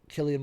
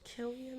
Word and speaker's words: Cillian: I know Cillian Murphy, I believe that's how you pronounce his name.